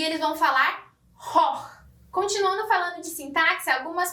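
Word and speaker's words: Choch: Outro exemplo é a palavra Koch, que vai ser escrita com CH e eles vão falar hoch.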